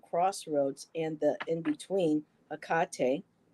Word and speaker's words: Hecate: The Greek goddess of crossroads and the in between, Hecate, or Hecate, her name has been pronounced that way as well, welcomes you to her domain and reminds you that neither place is your home.